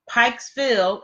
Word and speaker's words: Pikesville: So if you're ever around Pikesville, if I'm saying it right, you said Pikesville, Maryland.